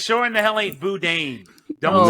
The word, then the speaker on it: boudin: Boudin. Boudin. That what? That Boudin. damn. That damn. And it's sure in the hell ain't Boudin.